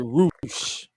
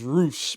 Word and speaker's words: Rush: They pronounce it Roosh, but it's spelled Rush. Yeah, I did not catch that. His name is Roosh, but it's spelled Rush, like Rush.